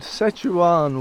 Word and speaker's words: Sichuan: Sichuan, we pronounce it as.